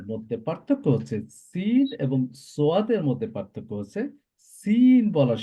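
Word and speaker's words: ص: এই লেটারটি আমরা কিভাবে প্রোনাউন্স করব? একই জায়গা থেকে যেভাবে আমরা সিন প্রোনাউন্স করছিলাম। হ্যাঁ, originate when the tip of the tongue touches behind the lower two front teeth.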